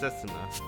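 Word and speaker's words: 雪菜: But it's written like Yuki, like Yukina. But it's pronounced Setsuna.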